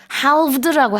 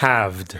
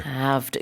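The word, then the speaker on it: halved: 반어 줄어들었다라는 뜻이거든요 근데 haled고 하진 않지요 How do you say it haved haved 여기서도 L 안 들리고요 응 저는 모음의 발음은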